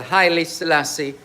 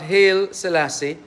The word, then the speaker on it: Haile Selassie: the health fair, the Haile Selassie High School, and that's how it's properly pronounced. Not Haile Selassie, but Haile Selassie.